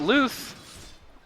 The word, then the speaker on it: Luth: spirit pause three you've got Luth rhymes with foursuit on the pit Lord